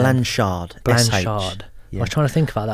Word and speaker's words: Blanshard: Blanshard.